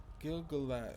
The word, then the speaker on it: Gil-galad: But not until the fall of the Black Gate did I behold Gil-galad's true might. Gil-galad's. Gil-galad's. Gil-gagas. Gil-galad's. Gil-galad.